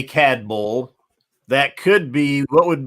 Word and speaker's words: Cadboll: this is brand new to the market Glenmorangie CAD Bowl estate 15 years old American oak bourbon cask